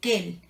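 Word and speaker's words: quel: que el que él casi todo se pronuncian igual porque no pero se escriben diferente ahí les va cuando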